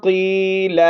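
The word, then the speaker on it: قيل: وَإِذَا قِيلَ لَهُمْ، قاف کو موٹا پڑھیں گے، یا حرف مدہ ہے، 1 الف کی مقدار لمبا کر کے پڑھنا ہے.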